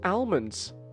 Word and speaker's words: almonds: gosh how was I supposed to know the L was silent okay like I I I I didn't like like my my my English class in school didn't how do I pronounce almonds just almonds that that's how you say it right almonds Al